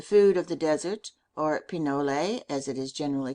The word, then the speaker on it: pinole: In Mexico it is known as pinole, Spanish pronunciation pinole, English pinole.